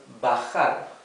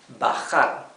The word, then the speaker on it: bajar: And we have the verb bajar, bajar. Remember that letter J in Spanish is pronounced like a very rough H in English, okay?